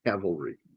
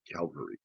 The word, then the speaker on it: cavalry: It's cavalry, not Calvary.